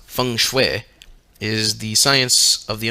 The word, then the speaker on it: feng shui: chinese system of geomancy feng shui pronounced feng shui is the science of